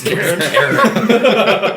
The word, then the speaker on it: Chiron: Chiron. Chiron. Sharon. Have I been pronouncing it wrong the whole time? Yeah, It's Karen.